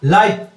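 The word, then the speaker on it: La'eeb: शुभंकर पूछ लेता है, मस्कट इसको बोलते हैं इंग्लिश में, शुभंकर था लाइव। यह इसकी स्पेलिंग जरूर याद रखिए, LAEEB।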